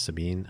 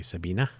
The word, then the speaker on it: Sabine: Yes, I think it's Sabine. I uh I think the German pronunciation is Sabine. I think some might say Sabina, but I think it's Sabine.